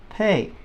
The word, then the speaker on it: pe: and this one is pay all right I need to pay your rent pay okay then veinte